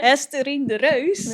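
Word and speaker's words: Esterine de Reus: The Ajax coach, her name is Hesterine de Rouse. I think Tammy will say it better. Beautiful The pronunciation. Dutchie will say it better. Estherine de Reus.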